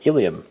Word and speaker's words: ileum: intestine this is the ileum now notice that this has a similar pronunciation to that of the pelvic bones but it's spelt differently spelt with an e